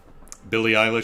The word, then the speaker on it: Eilish: yeah phones what are you gon to do Billy eyh is how you pronounce it okay reim trading hello Chicago hello